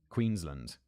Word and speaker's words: Queensland: David specifies land, not Lund. Queensland. I feel like that's just my British pronunciation.